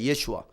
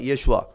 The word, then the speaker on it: 예슈아: 예수, 정확한 히브리어 발음을 하면 예슈아입니다. 예슈아. 해보세요. 예슈아. 예슈아.